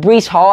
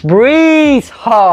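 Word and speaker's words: Breece Hall: and joe flacco but bruce hall had a 75 yard touchdown today excuse me i said his name wrong breeze hall had a 75 yard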